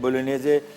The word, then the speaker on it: Bolognese: बोलोनेज़े, बोलोनिया एक जगह है इटली में, और स्पेलिंग BOLOGNESE है, ठीक है ना, तो जी साइलेंट है इसमें, कोई मसला नहीं।